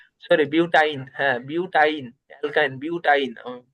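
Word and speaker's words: butyne: এর নাম হবে বিউটিন। নাম কি হবে? বিউটাইন না? সরি, বিউটাইন, হ্যাঁ বিউটাইন। অ্যালকাইন বিউটাইন, আমি উচ্চারণ ভুল করে ফেলছি।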